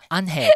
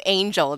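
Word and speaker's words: Ángel: Yeah, they didn't call him Angel, they called him that. So that's probably how you pronounce the Angel Falls, or mm-hmm. Angel Falls? Unhale. The G should be like H, yeah.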